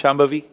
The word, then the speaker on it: Shambhavi: So this process is called Shambhavi. Can you pronounce Shambhavi?